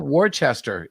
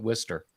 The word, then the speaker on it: Worcester: cabra hill is haverhill haverhill worchester what about warchester it literally is spelled warchester and we pronounce it worcester i know i don't know i don't know